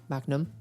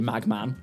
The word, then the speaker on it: Magnum: You pronounce it. Magnum. Oh, well, now you do. It used to be Magman.